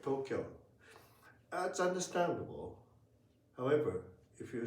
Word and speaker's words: Tokyo: But if you speak Japanese, it should be pronounced like Tokyo. Yeah. This if you ask all the Japanese people everybody who dance Tokyo has four beats for more interesting no discussion about it.